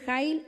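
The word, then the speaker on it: חַיִל: de las piedras preciosas es una mujer heil en hebreo se lo voy a deletrear es k j ah y el acento en la a ninguna de nuestras traducciones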